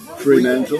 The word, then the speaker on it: Fremantle: How you pronounce that? Fremantle.